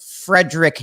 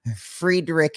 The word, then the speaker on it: Friedrich: yeah like we say like some people like frederick nietzsche friedrich nietzsche i think you know what most people